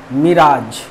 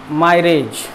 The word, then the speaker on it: mirage: बचा था D number, मिराज। बचपन में पढ़ते थे इसको मायरेज, MIRAG, मायरेज नहीं है ये, मिराज। इसका प्रोनाउंसिएशन क्या होना चाहिए, मिराज।